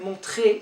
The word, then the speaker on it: montrer: Be careful if you have to pronounce this R here. Montrer is different than monter. If there's no R, it becomes to go up.